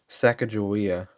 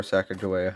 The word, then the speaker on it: Sacagawea: copper nickel and the sacagawea or sacagawea however you guys want to say it dollar is copper manages